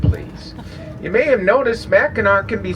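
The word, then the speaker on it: Mackinac: British came second but they are both pronounced the same Mao see this whole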